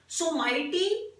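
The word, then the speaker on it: Someity: तो मैस्केट जो है पैरालंपिक्स का वो है सोमेटी, that's the pronunciation of the word सोमाइटी।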